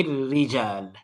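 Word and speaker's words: الرِّجال: The ra has a shadda. من هؤلاء الرجال.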